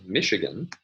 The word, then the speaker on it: Michigan: Let's consider another example, the word Michigan, which has primary stress on the first syllable.